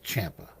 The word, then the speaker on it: Ciampa: When you say his last name, cuz it's it's spelled Kia or Campa or whatever, just replace the I with an H and it's Champa.